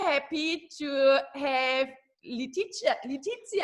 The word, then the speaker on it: Leticia: happy to have Leticia, how do you say it? It's more the Spanish way, right? Yeah. And I say the German way.